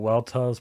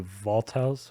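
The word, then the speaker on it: Weltall: call it well Tall they would call it well toes but it's actually voltos which is like German yeah yeah and uh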